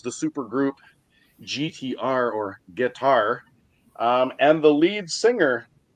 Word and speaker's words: GTR: is familiar with GTR, but it's supposed to be pronounced guitar.